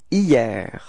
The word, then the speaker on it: hier: Okay, so it's quite funny because actually it does start with a H, but then in French we don't pronounce H, so we've got the sound hier, hier.